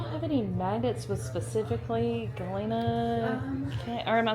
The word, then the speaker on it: Galena: cute do y'all have any magnets with specifically Galina or am I saying it right Galina Galina Galina Galina we've got the best we've